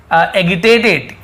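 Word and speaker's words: agitated: Word मिल रहा है एजिटेटेड। क्या लिखा हुआ है? एजिटेटेड। तो एजिटेटेड मतलब क्या होता है? क्योंकि जी आई है तो वहाँ पे ज उच्चारण होता है।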